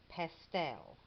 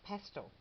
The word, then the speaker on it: pastel: And she pronounces that word there as pastel. Isn't that cute? Well, here in New Zealand, and I'm sure in England, we pronounce that word as pastel. So I'm going to say pastel, because if I start saying pastel, I'll probably get it all wrong.